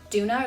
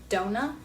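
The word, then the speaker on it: Doona: A lot of people suggest getting the Duna or the Dona. I've heard it pronounced both ways.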